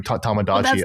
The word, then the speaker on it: Tomodachi: I mean you you pronounce it correctly. Tomodachi.